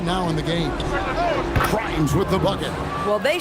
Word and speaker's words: Grimes: Here's Grimes out left to the wing. Corner shot. A nice shot by Neesmith. And now it's a 10-point Grizzly lead. Grimes rhymes with dimes on time right there.